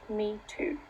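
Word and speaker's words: 米兔: Rice bunny which is derived from the Chinese words for rice and rabbit which is pronounced me too a feminist activist commented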